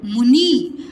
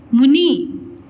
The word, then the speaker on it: मुनि: मु नी, मुनि नहीं बोलते, मुनि बोलते हैं।